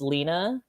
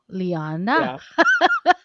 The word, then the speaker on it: Lyanna: the times you know they mispronounce it just because they see the one end so they assume it's lena or they just call me leanne and you're like no lyanna yeah or like or